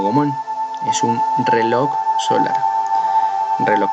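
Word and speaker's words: gnomon: de un gomón palabra y escrita como g n m en él y pronunciar de manera correcta como domón es un reloj solar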